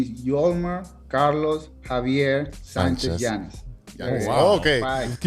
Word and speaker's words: Yolmer: for you guys so my full name is yolmer Carlos Javier Sanchez Janis okay Jan I didn't